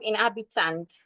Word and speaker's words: inhabitant: For this, we are stressing the second syllable.